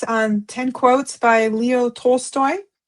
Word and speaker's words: Tolstoy: 10 divine quotes from Leo Toy Store. I hope I said that right. Uh Tolstoy.